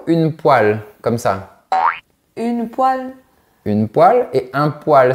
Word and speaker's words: poêle: En fait, la prononciation est identique au mot poil, P-O-I-L, pour les poils de la barbe, par exemple.